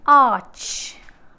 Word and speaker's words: arch: words such as arch sorry it is arch arch okay silent anna you